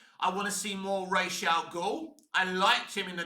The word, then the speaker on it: Ra's al Ghul: I mean, it's not Raz, is it? They were calling him Raz. It is Ra's al Ghul. That's how you say it.